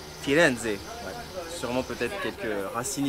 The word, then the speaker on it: Firenze: D'ailleurs, on ne dit pas Florence en italien, on dit Firenze.